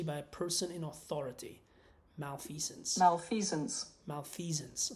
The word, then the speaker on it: malfeasance: Malfeasance. So it's a Z.